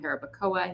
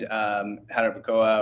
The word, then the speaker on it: Jarabacoa: But yeah, highly recommend Jarabacoa or Jarabacoa. I think we say it like our English way. Yes. But I think it's Jarabacoa.